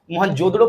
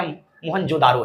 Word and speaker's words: मोहनजोदड़ो: कहानी को बताया गया, लेकिन वहां पर ना मोहनजोदड़ो प्रोनाउंसिएशन नहीं किया गया, प्रोनाउंसिएशन वहां पे मोहनजोदारो है, राइट ना। तो आप मोहनजोदारो कहिए या, ठीक है, इंग्लिश